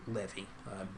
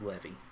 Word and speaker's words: Levi: said i have taken the tribe of levi as my own or levy i've heard that pronounced both ways messianic jew that i know pronounces it levy so i think i'll just i'll just go with levy so lord said the